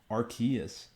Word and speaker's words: Arceus: what pokemon legends arceus i believe it's called archaeas apparently i was pronouncing it wrong my entire life um but